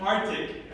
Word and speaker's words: Arctic: I just cut the C out of there and Arctic. But you actually have to in a perfect English, you would have to pronounce this C and go like Arctic.